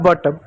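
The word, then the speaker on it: but: दो कंसोनेंट के बीच में यू आए तो यू को अ पढ़ेंगे। कैसे पढ़ेंगे? ध्यान दीजिएगा। जैसे एक शब्द है बी यू टी। बी को ब पढ़ेंगे। यू को अ पढ़ेंगे और टी को क्या? ट पढ़ेंगे। हो गया बट।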